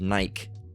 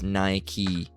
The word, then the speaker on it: Nike: Often mispronounced as Nike. All right. But it's Nike.